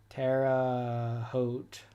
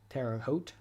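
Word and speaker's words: Terre Haute: Terraote rhymes with wear a coat. Terraote.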